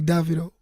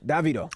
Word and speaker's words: Davido: Like, in the southern part of Africa, they be like Davido. Mm-hmm. But like in the western part, it's like Davido. So, Davido. My real name's David. Okay. So, yeah. It's Davido.